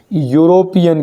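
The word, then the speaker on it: European: जाएगा ए क्यों क्योंकि नाम भले स्पेलिंग ई है लेकिन उच्चारण क्या हो रहा है यूरोपियन यू य यग आ रहा है यग और जिसमें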